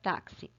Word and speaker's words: táxi: e aí vamos pronunciar taxi taxi taxi e um táxi esses x da palavra taxi tem dois sons nele existem dois som som de u um